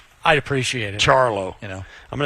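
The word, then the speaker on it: Ciarlo: They said it's Charlo. Yeah, I'll believe it. I didn't know if they went with the authentic Italian pronunciation, but apparently they did.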